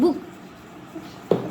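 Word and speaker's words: book: ठीक है ब्रूम अच्छा छोटे ऊ की मात्रा कहां आती है देखो जैसे देखो बी डबल ओ के कितना शॉर्ट साउंड निकल रहा है बुक अब इसमें देखो शूट उ और यहां पे बुक मतलब पता ही नहीं चला चला कुक लुक गुड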